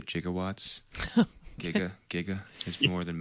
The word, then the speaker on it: gigawatt: a gigawatt not a jigawatt but it you know in the 1980s it was actually there was an alternate pronunciation of it as jiga so it wasn't like